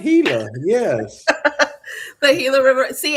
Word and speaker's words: Gila: You said it right, Gila.